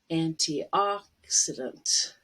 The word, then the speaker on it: antioxidant: And one O is aw, as an olive. antioxidant.